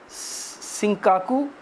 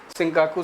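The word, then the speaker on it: Senkaku: तो ये है सिंकाकू आइलैंड, अलग अलग ढंग से प्रोनाउंस करते हैं लोग, सिंकाकू सेंकाकू।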